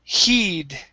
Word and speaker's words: heed: um next is okay the word heed okay instead of head kate use a long e sound here heed heed there you go